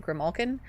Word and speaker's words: Grimalkin: say mispronounce because, like, there is a way that I pronounce it, and I pronounce it Grimalkin, but I get a